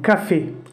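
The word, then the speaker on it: café: எப்படி email pronounce பண்ணும்போது இமெயில் அக்ஸாந்த் யூஸ் பண்ணும்போது ஏ அப்படின்னு ப்ரொனவுன்ஸ் ஆகுது, அ மெத்ஸன். அடுத்த எக்ஸாம்பிள் பார்த்தீங்கன்னா அ கஃபே, அது நம்ம காஃபி சொல்கிறோம்ல, அதான் ஃப்ரெஞ்சில் வந்து கஃபேன்னு சொல்லுவாங்க, அ கஃபே ஏ அ கஃபே.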